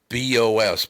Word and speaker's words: Doornbos: Doornbos, but they pronounce it like doorknobs.